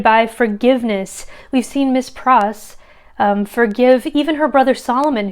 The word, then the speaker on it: Pross: meaning in Dickens but names like Pross rhyming with cross that seems pretty indicative